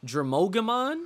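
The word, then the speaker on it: Drimogemon: like a mole one dry mogamon dramogemon is how you pronounce it oh you already know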